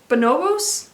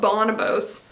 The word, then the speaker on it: Bonobos: okay next is a brand i'm gonna butcher the pronunciation i think bonobos i used to call it bonibos but i don't bonobos not sure um correct